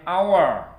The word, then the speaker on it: hour: An hour ya. Ini walaupun depannya h, ini kita pakai n karena membacanya hour ya.